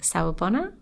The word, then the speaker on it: Sawubona: Let me know if I'm pronouncing it wrong. Sawubona?